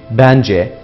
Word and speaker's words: bence: Bu kelimelerde vurgu son hecede yani c'de değil bence, bizce, sizce'de yani bir önceki heceye kaymıştır. Ahmet'le, Hasan'la, Ali'yle burada da gördüğünüz gibi ile bağlacı vurguyu kendinden önceki heceye kaydırmaktadır.